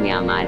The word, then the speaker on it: म्यांमार: बर्मी विच दूर का उच्चारण बाए हुंदा है इसलिए सही उच्चारण म्यांमार है।